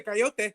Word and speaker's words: coyote: That's how they say it in Young Guns, bro. Yeah, that's how in Spanish you say coyote. Coyote. I mean, that's what it is. You guys just messed it up.